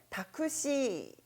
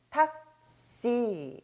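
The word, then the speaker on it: タクシー: 이 경우 , "shi" 행 앞 에 있는 소리 가 강하거나 짧게 바뀝니다 . 그러므로 " 타쿠시 " 라고 발음 하기 보다 는 " 탁시 " 라고 읽는 것 이 더 좋습니다 .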